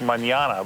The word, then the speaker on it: Manana: We're looking over at a place called Manana, like manana, but it's pronounced Manana.